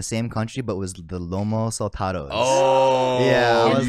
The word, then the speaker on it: lomo saltado: Favorite thing I ate was I had three of them in the same country, but was the lomo saltados.